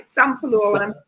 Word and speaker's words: Sampalue: Let me pronounce it right. Sampalue, right? Sampalue.